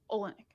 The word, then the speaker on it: Oleynik: Versus, however you say his name, Oleynik. Oleynik. Is that how you say it?